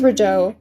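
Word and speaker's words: Raidho: I'm trying to learn how to say the runes in correct pronunciation, so I had to look at my cheat sheet. This is Rideau.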